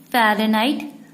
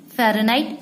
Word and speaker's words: Fahrenheit: It is called the Fahrenheit, pronounced as Fahrenheit, which was first used by the German scientist G.